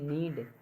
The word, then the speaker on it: knead: KNOW नो, KNEAD नीड, KNEE नी, KNIAP नाइफ, इसमें क्या के साइलेंट है, यानी कि एन से पहले आया हमेशा के साइलेंट होता है।